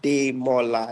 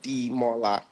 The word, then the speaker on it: Demola: So D E M O L A is pronounced as day M instead of D M.